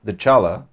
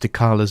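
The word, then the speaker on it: Dechala: And the first one that we're going to reveal today is the Chala, the denied one. We mispronounced Decala's name throughout the rest of our interview. Please imagine we are saying Decala.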